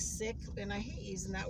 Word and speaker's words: Sikh: A lot of people call them Sikh, but the proper pronunciation is sick.